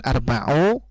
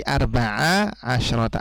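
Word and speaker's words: أربع عشرة: bagian adat ini jadi bukan arbau bukan arbae tapi Arba asrota artinya kalau kemasukan mint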